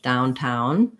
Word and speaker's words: downtown: like, for example, downtown, another example of a compound word with stress on both, downtown, versus if I had the word downer, it's a real downer. I lengthen on down, and then my is very short. Downer versus downtown, or downstairs. I'm going to have stress on both of those.